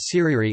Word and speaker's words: tirere: These stick dances or tiriri, pronounced siriri, are performed only during major festivals.